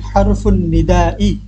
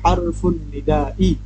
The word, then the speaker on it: حرف النداء: হারফুন নিদা উচ্চারণটা আগে শিখতে হবে ভালোভাবে।